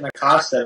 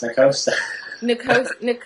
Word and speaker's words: Nacosta: Everybody pronounces it Nacosta, but it's Nacosta.